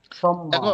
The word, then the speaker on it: সম্মান: ম এর সাথে যদি ম ফলা আসে তাহলে স্বাভাবিক যে গ্রামার সে গ্রামার অনুযায়ী কাজ হবে। উপরের ম টা দুইবার উচ্চারণ হবে।